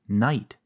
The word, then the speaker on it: knight: you probably know that this word is pronounced Knight but to someone who's just learning English it's a nightmare to pronounce there are several languages